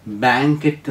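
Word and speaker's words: banquette: അതോട് ചേർന്ന് വരുന്ന അടുത്ത വാക്ക് ബി എൻ ക്യു യു ഇ ടി ടി ഇ രണ്ട് ടി ഉണ്ട് അവിടെ ടി ടി ഇ ഉച്ചാരണം ബാങ്കറ്റ് എന്നാണ് അതിനർത്ഥം ആൻ അപ്പോൾസ്റ്റേർഡ് bench along A wall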